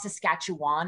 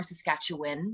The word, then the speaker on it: Saskatchewan: things you know like it's not saskatchewan it's more saskatchewan you know things like